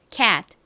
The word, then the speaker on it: cat: cat, cat. 좋습니다. cat의 의미가 뭘까요? 바로 고양이라는 의미이죠. 아주 천천히 발음하면 cat이지만 말하는 속도로 빠르게 발음을 할 때에는 t가 받침으로 들어간다 라는 점 기억해 주시면서 다음 단어로 넘어가 보도록 하겠습니다.